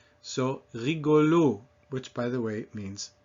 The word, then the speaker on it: rigolo: Because the accent in French always falls on the last syllable.